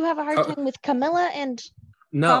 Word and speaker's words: Kamala: They're two different pronunciations of the exact same spelling, and I keep getting corrected.